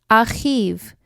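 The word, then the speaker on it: אחיו: When we add yud vav to the end of the Hebrew word ach, we pronounce it achiv, and it means his brother.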